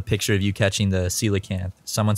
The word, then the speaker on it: coelacanth: Google oh we did yeah and it was coelacanth okay see you looking oh that's I don't